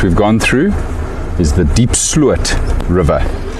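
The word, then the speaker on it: Diepsloot: So just to clarify what the pack members are busy discussing, the riverbed that we've gone through is the Deep Slut River, spelled D-I-E-P-S-L-O-O-T, Deep Slut.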